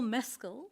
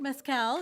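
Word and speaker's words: Mescal: including the menu and Paul meskel not Mezcal as many people pronounce it he's here in the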